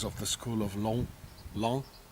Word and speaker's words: Laon: the school of long long they don't pronounce the oath it is not leon it's long and this is a